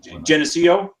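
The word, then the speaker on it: Geneseo: based in janesco Illinois that's how you say it Jesco it's genesio and then uh manufactur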